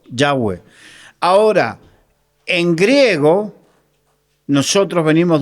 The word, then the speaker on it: Yahweh: Porque es es la la mejor eh no interpretación, sino eh la parte fonéticamente es como se pronuncia mejor. Yahweh.